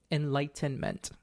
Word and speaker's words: enlightenment: he claimed was Enlightenment Enlightenment got to pronounce that t in the middle so I want to